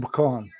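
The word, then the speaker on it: Bacong: he lives near Dumaguete he lives in pecan oh okay I I I I think I pronounced it right I could be wrong but it's b-a-c-o-n-g near Dumaguete Dumaguete do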